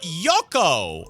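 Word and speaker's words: Jouko: Uh, Yoko, I think, is how you say his name. J O U K O.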